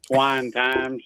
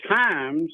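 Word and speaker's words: Tymes: Yeah, we get asked that a lot, and it gets mispronounced from Twine Times to whatever.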